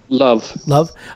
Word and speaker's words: Löw: and that Joachim Löw, how do you say that? Love. Okay, Joachim Löw would replace him.